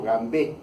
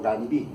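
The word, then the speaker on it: Gambee: ser simples, le hacemos un punto gambé o gambí, como quieran pronunciarlo.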